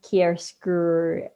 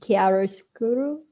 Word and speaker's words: chiaroscuro: on like that use of kierskur and did i pronounce that correctly i don't think i did chiaroscuro see yes uh allegory